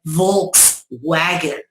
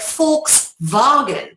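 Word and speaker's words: Volkswagen: the FKS vagen analogy because if you say it like an American you say vog wagon but if you say it like a Dutchman or a German you say FKS vagen which shows you how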